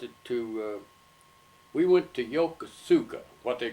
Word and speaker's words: Yokosuka: the bay although it's it's the Japanese pronouncing Yokosuka they put the axe in a different place and we call it Yokosuka but it's your call